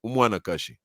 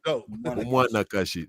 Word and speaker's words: Umwanakashi: A woman is Umwanakashi. Oh, I like that. Say that again. Umwanakashi, like Umwana.